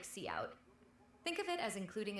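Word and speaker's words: cout: Character output see out pronounced easy to remember.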